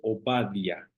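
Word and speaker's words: עובדיה: Abdías, que así se escribe en hebreo, y se dice Obadia, Obadia, que quiere decir siervo del Señor.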